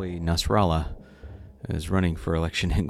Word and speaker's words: Nasrallah: into seeing how a Nasrallah is running for election in quantum Allen even though it rhymes with Guatemala that is not a Spanish name and it is not